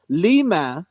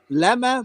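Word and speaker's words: لما: Actually, this whole phrase, how to say this whole thing in Arabic is Ilahi, lima, not lama, but lima.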